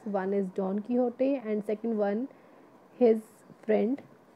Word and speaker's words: Don Quixote: Don Quixote, it is the pronunciation, say like Don Quixote.